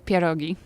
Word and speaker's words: pierogi: Definitely pierogi.